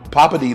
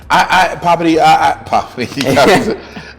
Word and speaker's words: Poppiti: Poppiti. That's it, Poppiti.